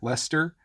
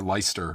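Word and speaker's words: Leicester: use in your words it looks like lycaster but I think you don't pronounce any of those letters it just becomes like Lester or leister or something like that um that one was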